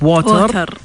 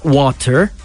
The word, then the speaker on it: water: In some words you don't pronounce the T. Yes. And you pronounce it as a D, just like in water.